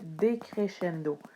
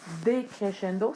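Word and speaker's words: decrescendo: du créchendo c'est le décréchendo attention encore une fois à l'orthographe aucun accent decéchendo donc le SC qui sonne comme ch en français decchendo c'est le contraire du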